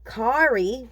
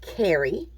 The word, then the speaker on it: carry: word sound it out did you get carrie if you got kari that's okay because that means you're sounding that out phonetically but you say it carry same thing hit pause